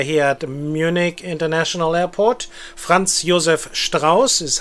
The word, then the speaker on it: Franz Josef Strauß: Franz Josef Strauß is how you would pronounce it correctly.